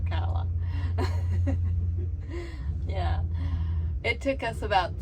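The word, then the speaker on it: Ocala: are at a rester just south of Okala Oka Okala Kevin's always calling it Oka because everybody else seems to but it's actually pronounced aala yeah it took us about 3 three and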